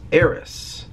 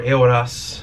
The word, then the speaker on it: Eoras: So my main character, at least in the first couple of books, is Eris. Or Eoras is how you really say his name, but we're not going to get into the semantics of it.